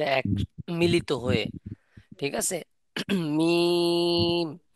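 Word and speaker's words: ميم: বলতে দুই ঠোঁটের শুকনো অংশ থেকে, দুই ঠোঁটের শুকনো অংশ থেকে মিম উচ্চারণ হয়।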